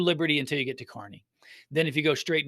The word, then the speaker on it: Kearney: I know it doesn't look like it's Kearney, Kearney, but that's how I pronounce it. Kearney, Missouri.